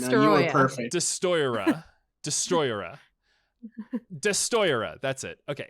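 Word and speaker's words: Destoroyah: Destroya. It's hard to pronounce. Beautiful pronunciation. No, you were perfect. Destroyera.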